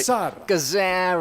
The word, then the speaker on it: Gazzara: Gazzara.